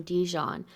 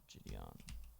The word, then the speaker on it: Gideon: I'm not dyslexic, but she keeps calling him Dijon, and it's so close to Gideon.